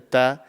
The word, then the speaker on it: ط: So the best way to pronounce this is that your tongue should be touching the bottom part of your top teeth, and you just blow out and you pronounce it and you just say ta.